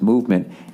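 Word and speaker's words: MVMT: there movement watches everybody movement watches pronounced movement MV MT that's how they spell it was founded on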